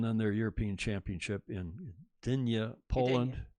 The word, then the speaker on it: Gdynia: their European Championship in Dania Poland Dania into the G is silent I think didn't you